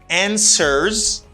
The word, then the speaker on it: answers: He answers. This W doesn't pronounce.